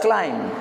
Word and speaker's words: climb: bonala it is climbing there are certain words in English the ending with the be but that B doesn't sound so you have to pronounce that word as climb grandmother used to teaching